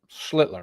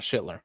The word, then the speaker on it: Schlitler: Schlitler. Make sure you put that L in there. It's not Schillitler.